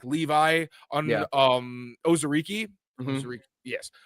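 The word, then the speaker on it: Onwuzurike: like Levi on um Ozariki. Yes. Um Anzariki. Anzariki. I looked it up yesterday. I wanted to make sure I was saying it right because he has the history with Terrell Williams.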